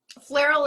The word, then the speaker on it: Flierl: Flairal is easier to say anyway, so that works for me. We're gonna start off with Kay Flierl.